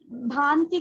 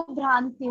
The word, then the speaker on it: भांति: भांति को भ्रांति बोला।